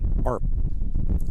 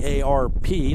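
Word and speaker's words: Earp: the count now Bryson ARP it's spelled e a r p like herp but pronounced arp big curveball dropped in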